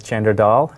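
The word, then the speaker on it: Chander Dhall: I've enjoyed being here hello my name is chandertal commonly pronounced as Chandra Dahl today we're going to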